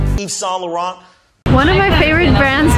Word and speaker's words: Yves Saint Laurent: And again, if you want to be correct, you want to read it in a French manner. So it's Yves Saint Laurent. Yves Saint Laurent. Yves Saint Laurent.